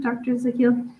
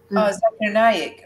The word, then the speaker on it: Zakir Naik: Do you recognize that name, Dr. Zakil? He's in Indian imam. He answers questions and things like that to really big audiences, and he's memorized. Zakir Naik.